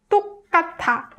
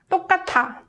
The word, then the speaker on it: 똑같아: But when you read them all together, it becomes 똑같아, 똑같아, 똑같아. So what happens is 티귿 in 받침 and 아 vowel combines and produces 타 sound. So this is called consonant assimilation.